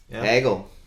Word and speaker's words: Hegel: uh this is hegel hegel rhymes with kaggle could you see hegel